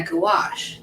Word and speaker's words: gouache: Wait, how is it pronounced? I just listened to it because gouache. Oh yeah, gouache.